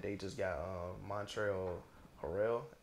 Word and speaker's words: Montrezl Harrell: Like they just got Montreal Harrell, if that's how you pronounce it. You talking about Trez? Yeah, Montrezl Harrell, like.